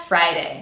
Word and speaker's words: Friday: Now we have Friday. Let's look at all of the sounds in our first syllable which is again the strongest syllable. F American sound and then we have our diff thong I. So for this to be correct I need to hear both sounds clearly.